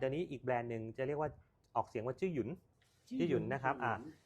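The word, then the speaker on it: Zhiyun: แบรนด์ นึง จะ เรียก ว่า ออก เสียง ว่า จื้อ หยุน จื้อ หยุน นะ ครับ อ่า จริง ๆ แล้ว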